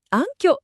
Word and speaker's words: 暗渠: 暗渠と読みます。